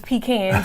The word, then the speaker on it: pecans: And is it pecans or pecans? Listen, How do you say I it? say both, and I tell people we sell both. Okay. So whether it's pecans or pecans, we have them both.